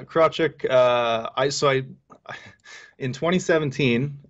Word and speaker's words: Krawczyk: name yes yes correct so it is pronounced crochet right yeah yeah crotchet uh i saw in